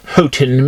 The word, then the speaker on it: Houghton: oh okay that's funny i thought hardin mifflin was i'm sorry it's houghton mifflin you got to learn how to pronounce all these like victorian people's names if you want to get by in publishing uh yes but i